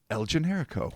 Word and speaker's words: El Generico: I should have emphasized the co because it's capital C, but El Generico.